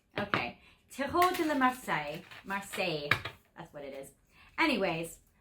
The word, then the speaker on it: Marseille: I just have to get my pronunciation back. Okay. Tarot de la Marseille. Marseille.